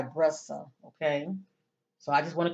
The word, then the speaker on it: Brissa: here and once again I apologize for pronouncing her first name incorrect she goes by brussa okay so I just